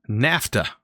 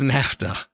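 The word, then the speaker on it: naphtha: and I figured out that is called NAFTA not nay naff I don't even know how I was pronouncing it uh-huh but hits NAFTA I don't know why I was calling it something else I guess I wasn't I wasn't taking the pH and making it a F I don't know why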